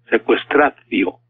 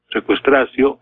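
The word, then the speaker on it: sequestratio: secuestra yo secuestra tío se escribe y se lee secuestra tío también secuestra zio genitivo secuestrar acción entonces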